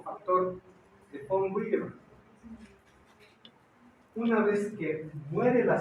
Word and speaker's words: von Willebrand: Es nombre alemán. En alemán, la V se pronuncia como F. Von Willebrand.